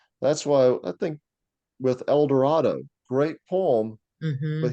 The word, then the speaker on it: Eldorado: Dorado great poem but he Rhymes El Dorado with Shadow yeah so he would have been saying El Dorado doesn't sound right to our ears because we know yeah how it should be pronounced but that's probably the way he would have pronounced it because that's the way people around him so instead of saying